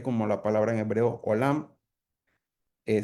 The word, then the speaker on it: olam: En hebreo, eternidad también se describe como la palabra en hebreo olam. Eh, se escribe o l a m.